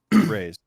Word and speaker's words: Raze: How do we pronounce the set again? Raze? Am I saying that right? This is Raze. Yep. Raze.